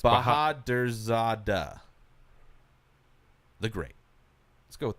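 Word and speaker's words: Bahadurzada: Nope, you said it wrong too. No, it's Bahadrzada.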